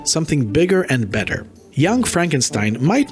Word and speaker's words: Frankenstein: follows the original Dr Frankenstein's grandson my name it's pronounced Frankenstein well excuse me Frankenstein I'm sorry one of